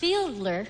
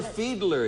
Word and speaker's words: Fiedler: I believe it's pronounced Fiedler. So Fiedler. Fielding. So you would disagree. So I would disagree with her pronouncement. Arthur Fiedler, you Right.